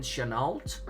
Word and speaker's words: Chenault: pronouncing your name correctly your last name channeled yes chanel if we were in france i think you would drop the t right right more than